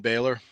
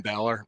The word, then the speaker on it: Balor: defeated Damen priest and Finn Baylor Finn Balor Balor I should say I've been mispronouncing names